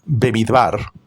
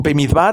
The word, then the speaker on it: במדבר: Porque esta pará que se pronuncia bebidbar eh se traduce como el desierto, ¿no? Bemidbar en realidad es una eh son tres palabras, baid bar.